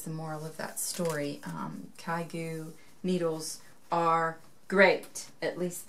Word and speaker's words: ChiaoGoo: It's ChiaoGoo. I think that's how you say it. ChiaoGoo, C-H. I'll spell it later.